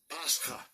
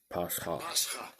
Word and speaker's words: Pascha: Yeah, the pronunciation's P-A-S with that kind of apostrophe looking thing after it. Hyphen K-H-A-H. Kind of like a guttural sound thing.